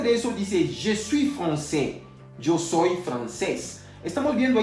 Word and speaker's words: français: Ya habíamos visto hace unos minutos atrás que la AI se pronuncia E. Entonces no diremos francais, vamos a decir français. A saber lo siguiente también, que la S final no se puede pronunciar.